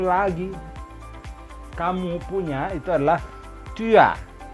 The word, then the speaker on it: tu as: Kamu punya itu adalah tu as. Dibacanya disambung. Jadi jangan tu as tapi tu as. S di ujung tidak dibunyikan.